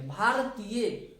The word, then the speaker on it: भारतीय: र का पूरा उच्चारण नहीं हो रहा है, इसलिए हम लोग आर में ए नहीं लेंगे। भारतीय, भारतीय, BHAR, TIYA, भारतीय।